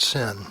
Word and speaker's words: SYN: it sync they called sy n which is pronounced sin so we'll talk about sin requests which is